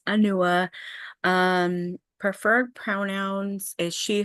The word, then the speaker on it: Anua: So, my name is Anua. It's pronounced Anua.